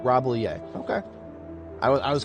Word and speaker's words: Rambouillet: But there are no L's. Rambouillet. Rambouillet.